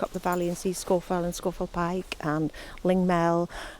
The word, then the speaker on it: Scafell: Listen to how they uh call Scorfell.